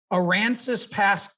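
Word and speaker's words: Aransas Pass: lee but i'm gonna give it a shot aransas past texas am i close yes sir good job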